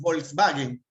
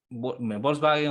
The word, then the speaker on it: Volkswagen: Eh, nosotros le decimos Volkswagen, pero en Alemania se dice Volkswagen. Ahí está. Claro. La V se pronuncia como F.